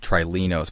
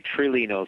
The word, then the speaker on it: Trilinos: for a number of months now calling it trinos but I guess that's not actually the correct way it's pronounced how is the package actually pronounced uh we tend to say trilinos but certainly there are others who pronounce it